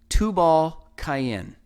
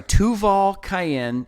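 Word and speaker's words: Tubal-cain: of this selfishness now tubal cayenne i'm sorry tuval cayenne in the king james it says tubal kane it's strong's concordance number eight four two three and again it's two ball cayenne once again we'll say the ba and the can be interchanged it literally means offspring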